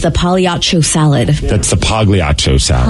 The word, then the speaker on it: Pagliacci: It is Pagliacci. It's technically Pagliacci, but everybody says Pagliacci. It's like my last name. The G is not supposed to be hard, but it is.